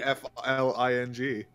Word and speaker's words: Tiefling: Someone That's put not how you say- TYFLING. I've heard actual people like unironically say that it's pronounced Tiefling. I'm like, you're wrong. You're incorrect. You're incorrect.